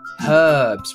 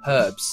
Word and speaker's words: herbs: beetroot what's that herbs herbs we pronounce the h herbs we don't arugula rocket